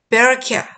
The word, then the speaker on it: Berechiah: 자, 이름을 영어식으로 읽어줘야죠. 아벨, AB의 에이볼 이라고 읽고 스가랴를 제코라이아. 그 다음에 바라기아를 베라카야. So from the blood of righteous Abel to the blood of Jerokiah, son of Berechiah.